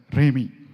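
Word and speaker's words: Rhemi: Just remember the word Remi, R-H-E-M-I. Some of you might have known Rumi, the Persian poet, right? It rhymes with that, Remi.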